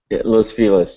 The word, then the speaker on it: Los Feliz: I can't pronounce it, Los Feliz? Is that true? Los Feliz, yeah. It's a Spanish mangling. The word feliz means happy in Spanish.